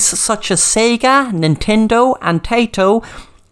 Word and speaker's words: Taito: In the 1960s then, companies such as Sega, Nintendo and Taito, that's not Taito into crisps in Ireland, it's spelled Taito, and they began to produce electro-mechanical games for arcades.